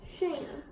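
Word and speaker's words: Cham: Sham. They spell it C-H-A-M in here, so I say sham instead of ham.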